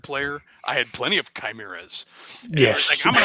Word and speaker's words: chimera: facade was pronounced facade I went to a high school that mascot was a chimera so chimura but even worse they insisted on pronouncing It the French way shimura I'm like you're both wrong it's a chimera because it's a freaking Greek word uh well and